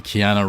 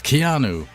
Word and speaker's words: Keanu: it like this because it's supposed to be Kiana Reeves. leaves. That's Keanu.